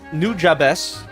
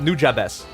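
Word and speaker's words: Nujabes: about the soundtrack and I liked new jabes that's how you pronounce it I had to look it up new jabes uh I think they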